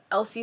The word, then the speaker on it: Elsie Silver: Tik toks you know I like religiously like mispronounce Elsie Elsie Silver's name and I always say Alisa silver but I'm getting better